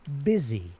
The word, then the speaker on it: busy: The uh Yobi RNG collect the letters of the word busy in the proper order. Remember the S can sound like a Z.